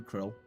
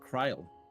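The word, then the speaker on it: Krile: I feel so strange calling her Krill even though that's how we've heard multiple times now that's how they pronounce her name the entire play through so far I always thought her name was pronounced Kryle the full report what's in the Oh.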